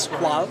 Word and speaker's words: Squale: The right pronunciation is in French, and it's Squale because it's from Neuchâtel.